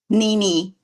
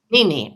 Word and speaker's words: Nini: How do you say your name? Nini. Nini, okay.